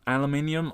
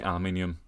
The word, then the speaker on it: aluminium: i believe it's uh transparent aluminium or as it would have been pronounced in the in the show transparent aluminum yes i say it both ways i'm british i say aluminium but i like star trek so i'll say aluminum i'm weird i get